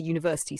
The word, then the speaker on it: university: Examples, a boy, a girl, a pen, a university sounds like you.